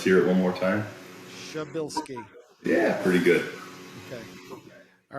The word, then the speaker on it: Szubielski: Szubielski.